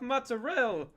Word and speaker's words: mozzarella: Not enough mozzarella. Mozzarella. That's how they say it in Italian. That's how my grandmother says it.